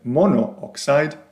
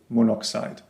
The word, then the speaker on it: monoxide: Rather than monooxide, we say monoxide.